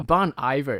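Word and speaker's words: Bon Iver: a band I always thought it's ior oh Bon ior it's a a French name actually for good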